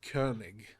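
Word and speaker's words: Koenig: yeah i think his last name is it's pronounced kernig yeah he he's a great actor i really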